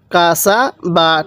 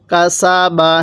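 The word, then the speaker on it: كَسَبَ: বা জবর বা কাসাবা কাসা বা টান দিবেন না আবার বলুন কাসাবা হ্যাঁ আরেকবার বলুন কাসাবা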